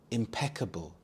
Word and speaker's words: impeccable: only experts could understand impeccable impeccable the stress is on the second syllable PE imp impeccable this means Flawless or